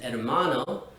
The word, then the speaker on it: hermano: Well, the letter H is actually always silent in Spanish. That's why we pronounce the words hablar and hermano the way we do and not hablar or hermano. This simply isn't right because in Spanish, the H is always silent.